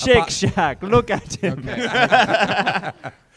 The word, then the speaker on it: Shake Shack: It's pronounced Shake Shack.